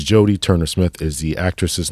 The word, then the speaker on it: Jodie Turner-Smith: She pronounced it Judy. The name of the actress in today's movie is actually Jodie Turner-Smith. Jodie Turner-Smith. A couple of times we said Judy.